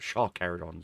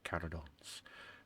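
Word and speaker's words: Carcharodons: Uh, I love the whole premise and idea of the carodons, not sharkons as some people pronounce it. There's no H. It's carodons.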